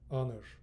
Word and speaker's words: honor: Careful, here H is silent, H is silent. Honest, honor.